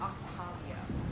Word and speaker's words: Octavia: And it's pronounced Octavia.